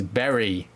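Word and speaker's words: Bury: Oxford and then home versus Berry which I've correctly pronounced for a change um and we're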